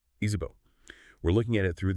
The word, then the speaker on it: Izipho: Our focus today is this compelling concept called Izipho, that's pronounced Izipho.